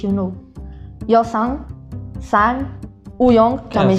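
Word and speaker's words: Yunho: Escreve-se Y-U-N-H-O, mas diz You Know.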